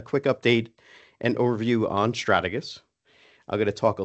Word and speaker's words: Strategus: And so the official pronunciation according to Webster is Stratagus.